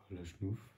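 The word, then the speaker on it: Lachnouf: La chenouf.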